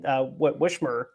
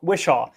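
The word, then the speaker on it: Whishaw: I think after the the after Ben Wishmer I always get his name wrong. Wishaw I think that kind of mold of Q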